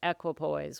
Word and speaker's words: equipoise: Turns out, as far as I can tell, it's equipoise.